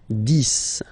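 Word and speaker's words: dix: 10, okay, so remember, final X here is pronounced like S, 10, 10, okay, then 11,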